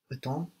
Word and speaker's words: attends: In both of those cases, no, we have a whole consonant syllable on the end that's silent. PS on the end of attends, on time, and then DS on the end of j'attends, tu attends.